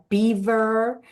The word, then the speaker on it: Belvoir: Like this question, did you purposely name it Belvoir, like Beaver Castle in Leicester?